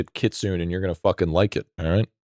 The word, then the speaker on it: kitsune: And even even still, you don't do your It's pronounced kitsune. Yeah, but I'm not a weeb. We're going to call this kitsune, and you're going to like it.